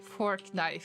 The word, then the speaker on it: Fortnite: am pronouncing it goodly fork knife okay fork knife so I pronounce fortnite badly it should be fork knife look he's beautiful he's